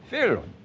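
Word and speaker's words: Wieluń: Wierun. So the W is pronounced like a V in English.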